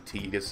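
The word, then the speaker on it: Tidus: in this game is called either Titus or Titus apparently tegus is the correct pronunciation I've always called him Titus so I may switch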